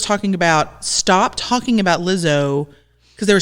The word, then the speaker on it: Lizzo: Lizzo.